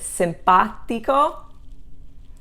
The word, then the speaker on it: simpatico: commonly used so rivede simpatico so those the accents on both of those too is on the third to the last syllable okay and that means